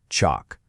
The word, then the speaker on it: chalk: You know, just like the words talk or walk, you don't hear the L in those either, do you? Same thing. It's pronounced chalk.